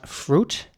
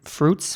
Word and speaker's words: fruit: You don't pronounce the I in it. It is spelled F-R-U-I-T, but you don't say fruit or something. You say fruit with a U sound, fruit.